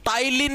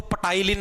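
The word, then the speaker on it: ptyalin: और इसी सेलवरी एमिलेस को टाइलीन के नाम से भी जाना जाता है। टाइलीन के नाम से देखो वैसे पी है पी साइलेंट होता है। इसके अंदर इसको पटाइलीन मत बोल देना।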